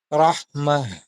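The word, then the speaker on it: رحمة: Kaya kung mapapansinin mo yung bigkas ko ay rahmah. Ganon. Rahmah. Ginawa kong ha. Kung magi-stop tayo ha.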